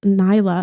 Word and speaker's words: Nyla: so that's rad um did i says nila pronounced nyla okay i did pronounce it right cool so it makes